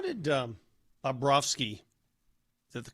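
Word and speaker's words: Bobrovsky: Mosh, how did um Babrovski, is that the correct pronunciation?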